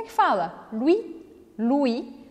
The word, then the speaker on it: Louis: Louis. Louis. Não pronuncie esse S. Louis. Aqui a gente tem o caso do O-U, que sempre vai ser o som U em francês.